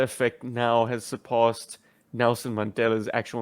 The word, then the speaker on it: Mandela: and mispronunciations i've heard people say the mandler effect oh no mandela but mandala is a